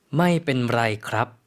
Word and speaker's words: ไม่เป็นไรครับ: 그러면 저희 다시 한번 발음 들어볼게요. ไม่เป็นไรครับ ไม่เป็นไรค่ะ 네.